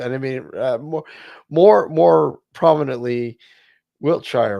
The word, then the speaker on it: Wiltshire: It's Wiltshire. It is Shire. That's it. It is spelt as that, but it's, yeah, we pronounce it Wiltshire.